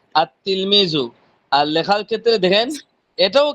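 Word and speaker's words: التلميذ: পড়ার ক্ষেত্রে পড়বেন কি আত তিলমিজু আর লেখার ক্ষেত্রে দেখেন এটাও কিন্তু আত তিলমিজুই কিন্তু এখানে লামটা উচ্চারণ হবে না বুঝতে পারছেন নাকি সমস্যা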